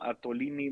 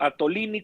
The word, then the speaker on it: Attolini: Claro que sí, soy Antonio Atolini, que se escribe como Atole, pero con doble T en todas las redes sociales. Seguramente por aquí nos van a poner el mensajito, Atolini como Atole, pero con